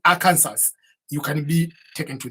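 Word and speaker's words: Arkansas: how it is written it is written like a cancers but we don't say a cancers because people confuse with the state of cancers even an old old law which says you cannot pronounce it is illegal and it is a crime to fail to pronounce the state of arer by saying Aransas you can be taken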